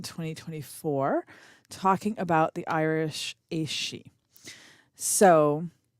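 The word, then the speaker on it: Aos: It can be pronounced anywhere from like ice to ace, depending on the dialect and which type of Irish we're talking about here.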